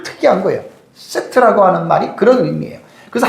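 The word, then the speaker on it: שֵׁת: 의미를 여러분들에게 말씀을 드릴게요 셋이라고 하는이 히브리어 단하는 세트 이렇게 됩니다 세트 히브리어로 발음하면 세트이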